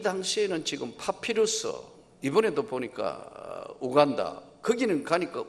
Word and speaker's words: 우간다: 아마 이 당시에는 지금 파피루스, 이번에도 보니까 우간다, 거기는 가니까 우간다라 안 그러고 유간다라 그래요. 그러니까 우리 발음이 참 그런 것 같아요. 아마 비행기에서 내려가 우간다 하면 하나도 외국인은 못 알아듣는 것 같아요. 유간다예요.